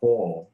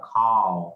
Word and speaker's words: call: các chị xem luôn, tiếng Anh người Anh nó là o dài ha, họ đọc là call. Nhưng mà tiếng Anh của người Mỹ á, là nó là call, âm âm a dài nghe thử.